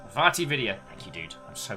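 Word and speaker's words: VaatiVidya: One of my favorite peeps, who I can never pronounce, Vatividya. Vatividya.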